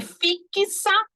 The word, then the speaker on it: fixa: X aqui Eita x Será que tem som de KS vamos ver pronúncia é fixa Então tem um som